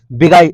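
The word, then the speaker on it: beguile: हालांकि पढ़ते हैं बिगाइल लेकिन पढ़ते हैं बिगुइल। स्पेलिंग याद रखे। कहले अभी व्हाट्सएप भाषा से अगर रटेंगे ना तो स्पेलिंग याद हो जाए, बी गु इल, बिगुइल।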